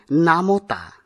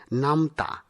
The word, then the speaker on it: নামতা: কিন্তু এটির সঠিক উচ্চারণ হবে রসগোল্লা আবার অনেকেই নামওতা উচ্চারণ করে থাকি কিন্তু এই উচ্চারণটি সঠিক নয় সঠিক উচ্চারণ হবে নামতা পরেরটি সমব্যাথী সমব্যাথী নয় সমবেথি এটি হবে সঠিক উচ্চারণ।